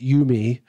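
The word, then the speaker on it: UMI: And then they thought it was kind of cool because you'd pronounce it you-me, which means you and me, our synthesizers connect and that sort of thing.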